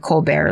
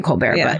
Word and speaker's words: Colbert: Okay, so this is where Buck Colbert, I'm pronouncing it Colbert like Stephen Colbert, but or could be Colbert, but Buck Colbert Franklin,